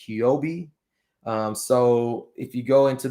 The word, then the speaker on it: Huobi: second exchange, which is, I think it's pronounced Huobi.